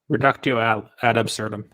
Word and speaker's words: reductio ad absurdum: i suck at latin the reducto al absurdum is that how you pronounce it reductio ad absurdum yeah reducto absurdum yeah reducing